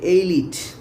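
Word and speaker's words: elite: বলো এলিট বানানটা কি, যেটার উচ্চারণ অ্যাকচুয়ালি এইলিট।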